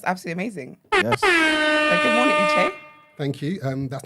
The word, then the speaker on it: Uche: We get like Uch or Uchi, which is quite frustrating, but it's actually Uche. Uche. Yeah, it's Uche.